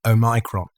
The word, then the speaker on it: Omicron: i think if you to use the correct pronunciation oh micron but but i'm not